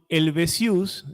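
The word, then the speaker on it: Helvétius: Con Helvetius, así se pronuncia, quien parte también de Locke, adquiere el materialismo francés su carácter propiamente francés.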